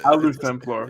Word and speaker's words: Luthemplar: How do I pronounce the new name again? Sorry. Luthemplar. Luthemplar.